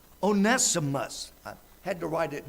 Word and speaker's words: Onesimus: onesim Odessa for us make sure I yeah oh nessive onesimus I had to write it down or I'd never pronounce it one of philemon's servants was onesimus onesimus had stolen some things from Philemon and